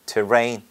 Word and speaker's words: terrain: 발음할 때는 rain 강세고 t처럼 해요. terrain.